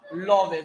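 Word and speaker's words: Lawes: वैज्ञानिक कौन सा था, लोवेस। देखो लावेस लोवेस जो पढ़ना चाहो पढ़ सकते हैं, मैंने स्पेलिंग लिख दी है।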